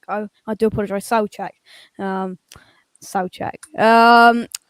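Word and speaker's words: Souček: got our opinions um i'm being told it's pronounced soul check i i do apologize um so check um right so that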